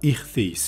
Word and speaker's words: ἰχθύς: Yunanca ichthys şeklinde telaffuz edilen ve kesişen iki yaydan oluşan bu balık sembolünün ilk Hristiyanlar tarafından gizli bir sembol olarak benimsendiği tahmin ediliyor.